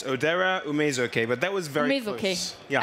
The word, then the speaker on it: Odera Ume-Ezeoke: So once again, what's the right pronunciation? It's Odera Ume-Ezeoke, but that was very close.